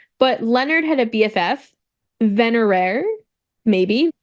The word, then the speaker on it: Venerare: down iridescent vener no it is spelled differently though I pronounced it similarly it's v n e r a r e venerare oh yes so she